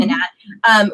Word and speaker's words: Anat: favorite characters was Anat, is like how you pronounce her name, Anat.